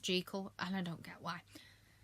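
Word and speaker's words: Jekyll: Yes, it's pronounced Gekle. It bugs the heck out of me. It looks like Jackal, but it's pronounced Gekal and I don't get why.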